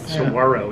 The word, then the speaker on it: Saguaro: i think it was saguaro yeah good pronunciation it looks like saguaro okay but it's a silent game our little binky was